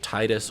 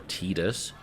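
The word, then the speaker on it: Tidus: given us the name the default name is titus or tedious as we've learned it's apparently called even though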